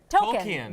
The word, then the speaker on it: Tolkien: He did, Now, it's I just Tolkien. learned that's how you pronounce it.